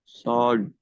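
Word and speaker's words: sword: डब्लू ओ आर डी सोड देखि आप डबल को नहीं पढ़ रहे सो पढ़ रहे तो गोया आपने डब्लू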